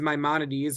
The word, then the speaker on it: Maimonides: Not the Rambam, who is Moses Maimonides, one of our most famous philosophers and scholars. And we differentiate between these two by accenting the first syllable of Maimonides' name and the last syllable of Nachmanides' name.